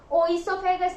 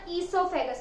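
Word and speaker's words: oesophagus: दूसरा नाम क्या था, ओइसोफेगस नहीं बोलना, ईसोफेगस। हम बोलते थे ना ईसोफेगस, हम बोलते थे ओ जो है वो साइलेंट है।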